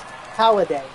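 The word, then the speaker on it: Holliday: you got this oh it's not holiday it's holiday Roy holiday I've been saying it for I've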